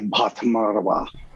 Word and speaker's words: Bhattacharya: She's a PhD psychologist named Sonali Bhattacharya. Her emphasis is in neuropsychology. Good pronunciation, by the way, on that aspirated B at the beginning of her name. That's a difficult sound for Americans.